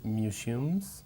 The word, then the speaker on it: museum: Museo en inglés se pronuncia museum. La palabra de toros Miura, esa primera sílaba de Miura, o Miguel Miura, el dramaturgo, y luego la tarjeta SIM de los teléfonos móviles. Miura, tarjeta SIM. Museum. Se acentúa la segunda sílaba. Museum. Se escribe museum, pero no lo pronuncies así, por favor.